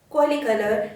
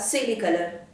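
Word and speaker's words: coelicolor: हाँ, मैं बात कर रही हूँ स्ट्रेप्टोमाइसिस, कॉलीकलर या सेलिकलर, दोनों ही उच्चारण सही हैं।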